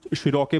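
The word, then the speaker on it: Cherokee: अलग अलग लैंग्वेजेस में अलग अलग प्रोनाउंसिएशन है उसका, कुछ शिरोके बोलते हैं, कुछ चिरोके बोलते हैं।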